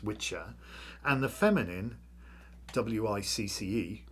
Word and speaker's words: wicca: And so there were two words, the masculine witcher, which is wicca, pronounced witcher, and the feminine wic pronounced witch.